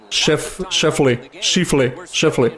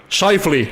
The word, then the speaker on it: Scheifele: Chose du genre, je sais pas comment le prononcer. Je pense que c'est Schiffley. En tout cas, c'est pas important. L'important c'est qu'on a eu un but. Scheifele, ok.